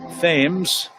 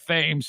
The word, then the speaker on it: Thames: but this guy eric thames steps to the plate eric's last name spelled like the english river but not pronounced thames thames split all